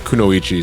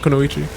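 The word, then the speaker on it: くノ一: The ninjas and the kunoichi, sorry. How do you pronounce that? Is that kunoichi?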